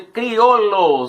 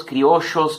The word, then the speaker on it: criollos: Esses eram chamados de criollos, ou criollos, criollos, criochos, depende da pronúncia da região, né?